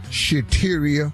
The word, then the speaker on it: Shateria: in the wrong relationship shateria that rhymes with cafeteria and yes where we